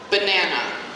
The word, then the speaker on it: banana: Banana. We have 3 A's, but they don't all sound the same in that word. So, banana. The stress is on the second syllable, right?